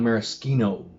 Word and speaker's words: maraschino: When I talk about maraschino liqueur, there's a couple of brands that make, I'm going to say it properly, sorry, a maraschino liqueur.